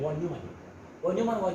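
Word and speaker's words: von Neumann: और ये जो है ना ये अच्छा ये बना जो है वॉन न्यूमन, इसको हम प्रोनाउंस करते हैं वॉन न्यूमन.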